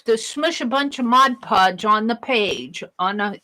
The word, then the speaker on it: Mod Podge: buy this Mod Podge not it's mod mod I get corrected on my pronunciation all the time because I naturally want to pronounce it wrong it's mod mod podge p o d g e not Modge Podge but I buy it